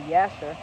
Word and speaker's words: Jasher: detail in the book of Yasher, but it's spelled with a J, called Jasher, but it's really Yasher.